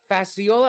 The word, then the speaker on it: Facciola: a firsttimer here on the channel author Tim fasola I want to make sure I pronounced your last name correct nailed it nailed